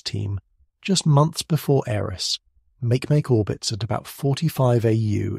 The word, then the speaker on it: Makemake: Makemake, pronounced Mahke, is the third largest known Kuiper Belt object and another dwarf planet.